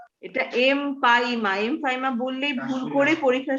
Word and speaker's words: empyema: এমফাইসিমা বলতে চাচ্ছ না এমপাইমা বলতে চাচ্ছ? এমফাইসিমা মানে কি? এমফাইমা ম্যাম, এমপাইমা, ঠিক আছে? বানানটা খেয়াল করবে, EMPYEMA, এমপাইমা, নট এমফাইসিমা।